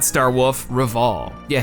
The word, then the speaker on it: Rival: There's Kapan, Fam, the head police officer Hardy, and totally not Star Wolf, Reval. Yeah, his name's actually just Rival, pronounced Reval.